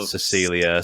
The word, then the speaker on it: Cecil: I was like yeah just a weird weird American way of saying Cecil I don't know I've been saying seesaw because that's what I've